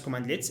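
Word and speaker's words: cmdlet: or command slits so command in Powershell are called commandlets pronounced as commandlets as obviously unlike many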